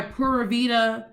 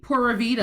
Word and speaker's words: pura vida: people who have created i have to say it the wrong way for it to make sense p u r a space v i d a and they will say oh yeah i have my pura vita uh travel agency pura vida now they know that's me how are you using the country's phrase to make you some bank and you're not even saying it the way the country says it say what like uh-huh